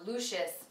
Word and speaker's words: Lucius: This looks like it could be pronounced Lucius or Lucius, but it is Lucius.